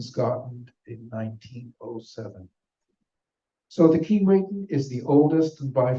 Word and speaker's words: Keewatin: liner built in scotten in 1907 so the key waen is the oldest and by far the biggest and most glamorous here is some of her story her name pronounced key weon in cre or a jibway that means North